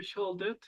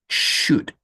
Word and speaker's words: should: You should. You should. Huh? You should eat healthy food. And don't forget the pronunciation of this word.